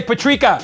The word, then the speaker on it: Patrika: and you know what if you can't pronounce my name Patrick just say Patrica because we share the same pronounce it's like every the